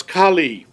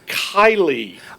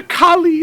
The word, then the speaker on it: Kali: And also, I can't help noticing they don't know how to pronounce Kali. No. I keep saying Kylie.